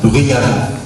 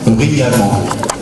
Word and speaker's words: bruyamment: Dans la chambre, 2 enfants de 3 ans jouent bruyamment. Je reprends. Dans la chambre, 2 enfants de 3 ans jouent bruyamment.